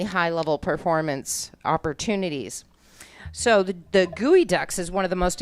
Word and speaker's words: Geoducks: So actually, the Geoducks, if you read it, it looks like it says Geoducks, but it is pronounced Geoducks, right?